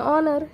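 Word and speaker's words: honour: Next honest है, फिर उसके बाद में ऑनर, ये 3 भी अल्फाज में हम हैच प्रोनाउंस नहीं करते।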